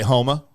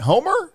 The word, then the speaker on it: Houma: And I say Houma. Houma, Louisiana. And they're like, "Homer?" I'm like, "No, Homer's in North Louisiana."